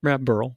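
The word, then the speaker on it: Beryl: kind of stuff but how would you guys pronounce it bur I think Burl yeah Burl like Milton Burl okay because I knew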